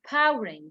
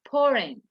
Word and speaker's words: pouring: we have pouring pouring this is not powering by the way or pouring it's pouring pouring like you have to to um to pronounce the past sound correctly pouring pouring pouring means